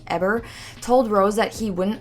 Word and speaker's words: Heber: And then at that time, it looks like it should be pronounced Heber, but I'm pretty sure it's pronounced Heber, told Rose that he wouldn't allow her to visit her own daughter anymore.